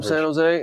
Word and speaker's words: San Jose: you know I'm from San Jose and those who are from there don't really pronounce the in it's just San Jose San Jose yeah not San Jose okay I was PR